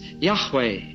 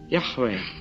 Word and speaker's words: Yahweh: And so the nearest that scholars can get to it is Yahweh. Yahweh.